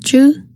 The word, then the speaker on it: Chu: places we've never been Chu is pronounced juu it means bow and